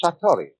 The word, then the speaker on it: satori: in Japanese in Zen it is called Satori I write that down it's familiar words s a t o r i and I like the way that that's pronounced in southern Chinese they pronounce it because it's something